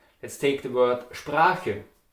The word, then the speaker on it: Sprache: Let's take the word Sprache. Sprache with A, in Austria you would say Sproch with O.